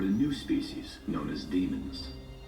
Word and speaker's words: Daemons: new species known as demons. I thought it was Daemons, the way it's spelt.